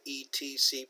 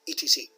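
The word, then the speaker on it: etc.: be more familiar with etc okay you write et Cie period the actual that is an abbreviation for it cetera and that's how we pronounce it we don't say et Cie we say etc it means and so on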